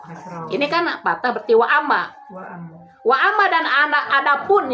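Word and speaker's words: وأما: Dibacanya waamma nih. Waama ada hamzahnya di atas kan di atas alif ada hamzahnya itu berarti waamma. Kalau di bawah hamzahnya berarti wa im.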